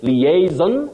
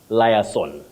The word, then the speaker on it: liaison: Then you say liaison, not liaison.